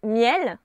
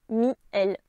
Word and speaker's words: miel: Contre-exemple, le mot miel vient du latin mel, donc il n'y avait qu'une seule voyelle. Il n'y a donc pas de diérèse en poésie et on prononce miel et non pas mi-el.